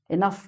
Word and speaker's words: enough: "Enough", "rough", "tough", "uff".